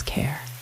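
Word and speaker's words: Carruthers: carathers down at Seaborn she spoke of her surname as care but she pronounced it car as in Motorcar now I submit that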